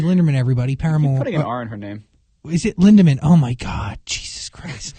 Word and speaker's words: Lindemann: person i know but you always put an r in her name whenever we mentioned her